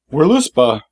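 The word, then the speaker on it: Völuspá: of this willow spa we're loose bah and yes i'm pronouncing it with the w because they don't have v in norse or german so i'm saying we're loose bah i'm probably wrong but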